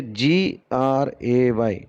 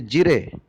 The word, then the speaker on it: gray: But if we trust our ears, then the pronunciation becomes gray, right?